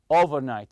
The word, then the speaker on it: overnight: You say overnight. Stress the first part, the over part.